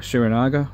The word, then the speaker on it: Srinagar: I was living on a houseboat for a month at the foothills of the Himalayas in Srinagar, as they pronounce it, or Srinagar, on Dal Lake in Kashmir.